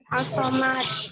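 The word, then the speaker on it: الصمد: Bisa nggak bacanya? As-Somad.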